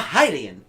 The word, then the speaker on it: Hylian: You're a Hylian.